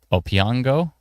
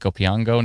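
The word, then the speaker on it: Opeongo: Spruel Township, Whitney, Along Park, um, Lake O P E O N G O, Opango, Lake Opango needs to be taken shelter.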